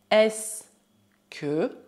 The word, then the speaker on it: est-ce que: Quanto a pronunciar, a palavra é pronunciada e o em se é mudo. Assim é como se existissem apenas duas sílabas. Est-ce que, est-ce que, est-ce que.